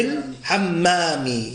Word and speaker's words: الحمام: Why are we saying fil and pronouncing a lam? Because meme is a munata. Yeah? في الحمام. So yeah, ha is a munata. في الحمام. And that's why we didn't say ياسر في حمامي. Yeah? Because ha is not a sun letter, it's a mu letter. So we pronounce the lam before the letter.